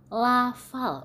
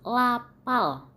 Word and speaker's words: lafal: Jadi ada orang yang mengatakan kata lafal dibaca menjadi lapal. Itu adalah salah satu contoh pengucapan lafal yang salah. Lafal berarti kita ucapkan, kita baca lafal, bukan lapal.